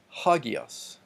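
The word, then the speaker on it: ἅγιος: rough reading mark so we will pronounce that with an H and it also tells us that the pronunciation on the first syllable gets the emphasis so ha Geass ha Geass ha Geass means holy or st.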